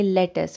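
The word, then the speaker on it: lettuce: इसको आप इंग्लिश में इस तरह प्रोनाउंस करेंगे लेटस। आपने इसके स्पेलिंग पे गौर नहीं करना, क्योंकि फिर आप यू पे अगर ज़ोर देंगे तो वो कुछ और बन जाएगा, लेटस बन सकता है, लेटस।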